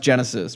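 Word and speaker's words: Genisys: It's pronounced Genesis, but yeah, that was the last one.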